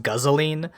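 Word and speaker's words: guzzoline: what we're using now yep um gasoline is pronounced guzzling uh yeah right everything has like this like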